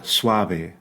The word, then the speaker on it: suave: softer B right uh Suave remember the V is never V it's never Suave the the top teeth never touch that bottom lip it's not Suave it's Suave Suave okay it's not vir it's